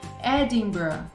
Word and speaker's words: Edinburgh: Temos outros exemplos, como essa palavrona aqui, que vai ser pronunciada como Loughborough, Loughborough, E por último, Edinburgh, Edinburgh, tá vendo?